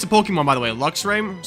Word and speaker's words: Luxray: Luxray. Sorry, I pronounced it Luke's RAM. It's Luxray. Luxray is a great Pokemon.